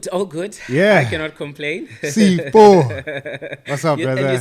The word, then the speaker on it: Sifo: Sifo. What's up, brother? And you said it right. A lot of people say Sifo or Sfiso. So Yeah. You actually said it right.